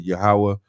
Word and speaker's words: Yahawah: we would say Yahawah and we would spell it Y a H w a h Yahawah sure I got that